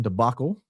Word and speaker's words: debacle: Debacle pronounced with an a like that and cat rather than that and father.